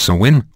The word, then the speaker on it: Samhain: The day was intended to honor the dead by Celtic pagans, in a feast called Samhain, pronounced Samhain, which means summer's end.